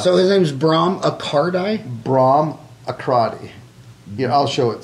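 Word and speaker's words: Bahram: Bram Akradi. Yeah, I'll show it to you, because it messes everybody up. B-A-H-R-A-M. Oh, Bram. Is it pronounced Bram?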